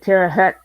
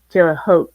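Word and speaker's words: Terre Haute: do you remember that they pronounced terot two different ways nope the first SE reason they pronounced it Tera Hut like a building and somebody they must have had letters because the second season they started pronouncing it to a hope correctly yes you don't like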